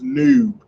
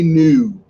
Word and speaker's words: noob: So Stormy was like, "No man, it's noob. Say noob."